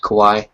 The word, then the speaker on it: Kauai: It's pronounced Kauai. Yeah, one of the two pronunciations is Kauai, but Michael's fine.